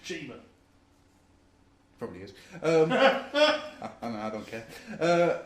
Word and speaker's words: Chima: They sent me a Lego Legends of Chimia, and it is pronounced Chimia. I've watched the videos now. It's not. I'm sure it's just Chima.